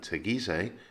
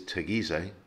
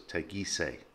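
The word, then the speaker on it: Teguise: syllable the word is tegize as opposed to tagis or costa tagis and again the push is on the penultimate syllable so it's tegise tagisei this is one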